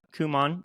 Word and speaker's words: Kumon: businesses, including opening her first, how do we pronounce this? Kumon? Got it. Kumon Center at age 26, just 26.